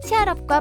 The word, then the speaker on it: 치얼업: 영어로 응원한다는 뜻을 담은 치얼업과 발음이 같아서 기억하기 쉽죠.